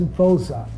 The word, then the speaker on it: Voza: My name is Voza. V for V-O-Z-A. The show that I saw was Woza, W-O-Z-A. And South Africans, when they pronounce V, it's like W.